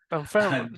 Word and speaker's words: Dunfermline: Very hard to pronounce. Yes. Dunfermline. Dunfermline, yes.